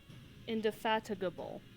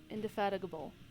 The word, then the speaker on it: indefatigable: have my volume way down heck how to pronounce indefatigable indefatigable indefatigable in indefatigable indefatigable okay okay what's the British